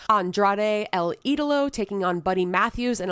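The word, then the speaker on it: Andrade El Idolo: just in case you don't know how to pronounce Andrade El Italo taking on buddy Matthews in a ladder match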